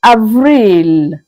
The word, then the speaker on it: avril: April is pronounced as Avril.